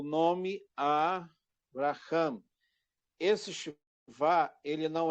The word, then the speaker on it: Abraham: Tem gente que fala avraha, não é avra, tá? Por quê? Porque aqui eu tenho uma sílaba maior, tá? A sílaba maior é o Abraham, ela vem para cá, tá? Abraham. Quando você iniciar a pronúncia aqui, ó, do Abraham, aqui, ó, Avr Avra. Abraham, aqui é breve, então